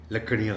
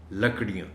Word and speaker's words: لکڑیاں: پڑھتے ہوئے، لکڑیاں اٹھاؤ، لکڑیاں غلط ہے، لکڑیاں۔ وہ تھک چکا تھا،